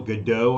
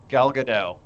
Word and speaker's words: Gadot: new wonder woman the latest wonder woman gail godeau i think how do you say her last name gal gadot okay yeah yeah yeah apparently she cut her